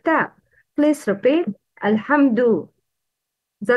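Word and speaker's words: الحمد: Uttering dal same as ta should be avoided. It's dal, not ta. Alhamdu. Don't pronounce dal like ta. Please repeat. Alhamdu. The wrong is alhamtu, alhamtu, to no, that's wrong.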